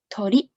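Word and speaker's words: とり: to do a trick trick trick sounds like tori the first three characters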